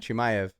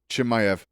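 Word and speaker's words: Chimaev: How you pronounce his last name? Hamza. Chimayv. Chimayv.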